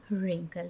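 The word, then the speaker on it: wrinkle: Hair है और ये जो है हमारा वो रिंकल है। तो इस तरह से ये जो लेटर्स हैं ये साइलेंट है।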